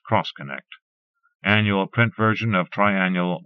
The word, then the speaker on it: X-Connect: Pronounced Cross-Connect.